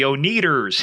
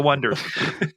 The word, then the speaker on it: Oneders: But the band's name was spelled Oneder for the Wonders, the Wonders. And everybody kept pronouncing it the Oneders. Here they are, the Oneders. The Wonders.